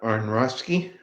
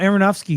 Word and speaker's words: Aronofsky: On Aronofsky. Oh, Aronofsky.